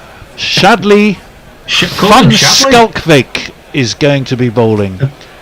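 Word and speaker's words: van Schalkwyk: did you um what do you call it fun skull vake perfect perfect oh what a be you've done it phonetically as fun skull that's word I was looking for phonetically shadley skull Vick is going to be bowling Tony you you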